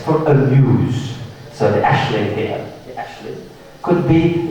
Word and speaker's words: aisling: These are pronounced ashling and she's because these are Irish words, they're not English words.